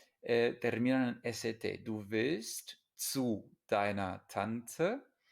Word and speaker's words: zu: Du willst zu deiner Tante. Una Z se pronuncia como TS.